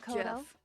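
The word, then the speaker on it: Geoff: was spelling it though it's like g off it's not you haven't given up already that's pronounced Jeff I'm aware no of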